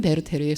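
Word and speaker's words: Werther: 그 대표작이 젊은 베르테르의 슬픔이에요. 이제 저는 베르테르, 베르터 둘 다 쓰는데요. 둘 다 익숙한 표현이고, 베르터가 조금 발음이 가깝기는 한데 베르테르가 워낙에 익숙해서 저는 좋아하는 표현이라서 왔다 갔다 쓸게요.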